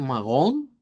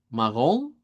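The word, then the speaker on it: marrom: Nada más vamos a decir magón. Magón con nacialización, magón, eh, que es como el café, ¿verdad?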